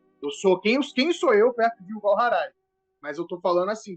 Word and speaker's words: Yuval Harari: Pronúncia certa. Yuval Harari.